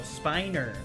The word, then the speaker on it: Spiner: Or maybe Oh, Spiner. Oh, sorry.